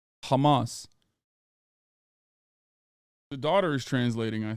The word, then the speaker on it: Hamas: to know you're mispronouncing Hamas in a very particular way that Israeli officials mispronounce it. It's not a ch sound. I didn't say Hamas. I said Hamas. Hamas.